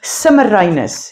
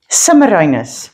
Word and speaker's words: Semiramis: So, he ruled Babylon and he took himself a wife with the name Semiramis, his queen. Semiramis.